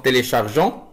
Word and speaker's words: téléchargeons: Pour le verbe télécharger, télécharge, téléchargeons, et faites attention à la lettre E pour ne pas prononcer G, donc téléchargeons, et télécharger EZ à la fin.